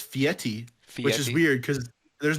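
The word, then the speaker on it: Fieri: do what would guy I always say guy Ferrari because I it's just it's easy I know that's not you know his name is actually like pronounced fiti which is weird because there's no te in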